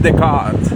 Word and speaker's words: Descartes: Que si tú le dices Descartes a un francés, te menta la madre, porque los franceses son exquisitos, les gusta pronunciar no tienen tantas letras, pero les gusta pronunciarlos exquisitos. Usted por ahí puse en el translator, nuestro amigo Descartes, para ellos es Descartes. Y yo, vaya, hijo de puta. O sea, se comen la R, la S.